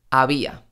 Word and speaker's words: había: manera mucho más relajada por ejemplo había había no decimos había decimos había mis labios casi no se cierran casi no se tocan había a cabo a